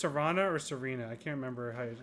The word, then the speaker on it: Serana: Ooh, is it pronounced Serana or Serena? I can't remember how she pronounces it. That's a good pick. Tifa and Pan Am from Cyberpunk. Those are probably two of my biggest ones. Serana, okay.